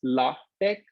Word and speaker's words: LaTeX: setting system okay uh germans pronounce it as logitech and english men or yeah english people just be gender neutral they pronounce it as latex latex it's not latex the rubber so you know it's